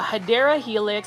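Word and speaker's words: Hedera helix: guys this is another hedra helix or a hadera helix I just like calling hedra Helix but the correct way to say it is hadera Helix which is basically an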